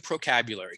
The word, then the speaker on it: Procabulary: If you're discontinuing Procabulary, We're retiring procabulary, correct? Because, well, procabulary, there's 5 syllables. It's hard to say. 15% of the time, people say procabulary.